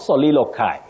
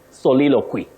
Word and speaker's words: soliloquy: Catherine Kola of Malindi, soliloquy. Not soliloquy. Soliloquy.